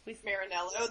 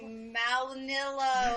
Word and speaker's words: Marinello: Marinello. There's a makeup school here called Marinello, and No one can say it. no one can pronounce it correctly. It's They're like really Malinillo. Malinilla.